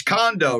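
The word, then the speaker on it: Kondo: what did I say how did I say it wrong con it's condo right condo oh [ __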